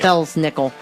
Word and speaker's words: Belsnickel: yeah and it's not it's is spelled B Els nickel right yes yeah that's nickel even though it is Bell's nickel all right the legend